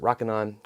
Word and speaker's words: Rokinon: so i looked at the rokinon i think that's how you pronounce it rokinon or somebody pronounce it rockin on rokinon cine lenses and